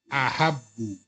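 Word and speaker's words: أحبّ: Ya, tasdidnya langsung dilebur ya. Menjadi huruf kembar itu dilebur menjadi tasdid. Tapi ya konsekuensinya diucapkannya menjadi tasdid. Ya. Ahabbu. Ya huruf keduanya yang tadinya sukun menjadi fathah. Ahbabu, nah haknya kan huruf kedua ya. Kan sukun kan? Ya. Jadi fathah dia.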